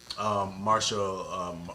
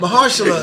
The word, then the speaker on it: Mahershala Ali: Marshall, I can't say his name. I don't Ali, Mahershala. or- Mahershala Ali.